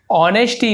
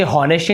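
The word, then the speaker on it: honesty: ऑनेस्टी, इसे हॉनेस्टी नहीं पढ़ेंगे, ऑनेस्टी पढ़ते हैं, एस साइलेंट होता है, ईमानदार।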